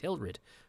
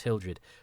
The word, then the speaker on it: Hilrid: And Commander Hilrid, I think he's Hildred in the book, but he's Hilrid here. And I thought for a while it was just George Pravda, his pronunciation, his issue for him. But it's in the credits, he's Hilrid, not Hildred.